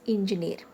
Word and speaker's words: engineer: The first word given is engineer. Okay. So now divide the word engineer into syllables. N, G, N. Okay. Engineer. So the last syllable is near. So that's why we are marking stress on near.